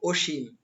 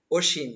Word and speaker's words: অসীম: অত্যাচার অধ্যাপক অধ্যাপক অধ্যাপক অসীম এই যে দন্তস্বর উচ্চারণ হবে তালব্যস্ মতো অসীম অসীম রস ইকার দিয়ে অসীম এরপরে রয়েছে অনিঃশেষ অনিঃশেষ